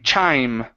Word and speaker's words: chime: good uh next up instead of Chim or uh yes Chim it's chai chime chime in Chim in okay good Chim